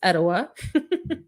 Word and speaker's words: Etowah: If you don't know how to say the word, it's Etowah. I've heard it many ways.